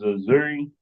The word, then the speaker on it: Azoui: So, my name is Azoui. is pronounced like Missouri without the M.